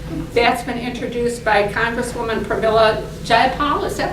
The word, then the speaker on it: Pramila Jayapal: That's been introduced by Congresswoman Pramila Jayapal. Is that how you pronounce it?